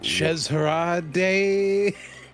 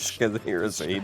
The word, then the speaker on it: Scheherazade: Shezharade. It's Shez Shez- Harade. That's the fucking. It's. I don't know why she's called Shez. To be honest, it's Scheherazade.